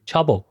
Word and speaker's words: Chaebol: 词，好像发音类似于 Chobol。事实上呢， Chobol 目前已经成为了韩国境内最具权势的一个群体了。 Chobol 在韩国现代发展史